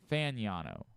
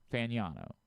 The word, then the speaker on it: Fano: So if you want to give him a leg up because of that fan, it is fan. It's fan fano. Fano. Fano apparently is how they pronounce it.